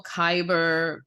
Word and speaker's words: Kaiber: There's also Kyber, that and that's spelled Kaiber.